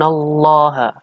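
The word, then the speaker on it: الله: t-shirt online Inaya gurun allaha allaha ini adalah lam jalalah dibaca dengan tafkhim artinya dibaca dengan tebal karena ini ada lamjalalah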